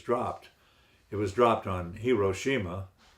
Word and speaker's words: Hiroshima: It was dropped on Hiroshima. Some people pronounce that Hiroshima.